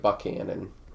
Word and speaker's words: Buchanan: uh buchanan county yes i know it's spelled buchanan and they say it buckhannon don't question it um